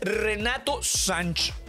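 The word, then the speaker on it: Renato Sanches: And that's Renato Sanch. That's how you pronounce it. Renato Sanch. I think the Renato is wrong. It's Renato Sanch.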